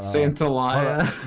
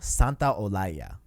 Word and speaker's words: Santaolalla: This is how you say it, okay? Okay, let's hear it. Gustavo Santaolalla.